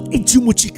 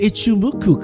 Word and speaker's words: Ichimoku: So, then the guy goes, "No, Ichimi Cloud, bro. You the Ichimi cloud, bro. I'm like, what is that? I don't even know. Cloud. Okay. Cloud. Oh, Ichimoku cloud. I got it pronounced wrong.